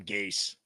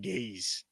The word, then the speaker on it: Gase: Adam Gase. The best is Joe B still not knowing how to say his name. Just called him Gaze.